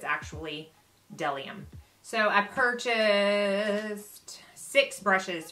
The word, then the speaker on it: B'dellium: and then del iam it looks like you pronounce it bud Eliam but it's actually del iam so I purchased six brushes from them just